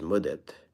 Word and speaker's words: Mudit: Uh my name is Mudit. Uh the Sanskrit pronunciation is Mudit.